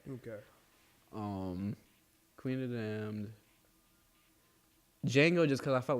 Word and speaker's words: Django: Django, just because I felt like that's like every black person's superhero movie personally. Django. Like The J is silent.